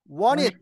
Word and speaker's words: wanted to: T 사운드는요, 묵음. 다시 말하면 소리가 아니고요. ED는요, 이렇게 알려주니까 발음이 나오더라고요. 받침으로 들어갑니다. 받침. 받침이면 아시겠어요? 받침. ED에서 독립적으로 발음하는 게 아니라, 원 다음에 ED가 받침이니까 시옷 받침으로 들어가세요. 그러면 T는 발음하지 마시고요. ED는 시옷 받침으로 들어가면, 원티드를 묶으면 어떻게 발음할까요? Want it. 예, want it. 해보세요. Want it.